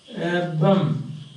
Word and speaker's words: urban: Urban becomes urbum. See that?